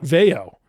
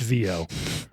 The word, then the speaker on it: Veo: It is not Veo. When I asked when I was like how do you pronounce it Veo? And he and when I asked him this, he was like, "It's VO." Everybody Everybody asks this. Everybody gets it wrong. VO.